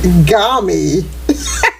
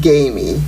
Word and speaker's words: gamy: Your word is gami. Gami? Or you can pronounce it gamey. So gami or gamey.